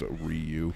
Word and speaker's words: Ryu: I'm saying pardon me we always called him we're I you in my circle of friends Ryan yeah even though it's pronounced Ryu oh my god he's